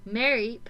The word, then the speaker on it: Mareep: Mareep explores the arena.